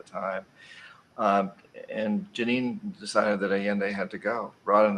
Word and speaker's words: Allende: So let's move on to Allende. Is that the pronunciation? Mm-hmm. Yeah. Well, Allende again, president of Chile, and Allende went up against a very powerful U.S.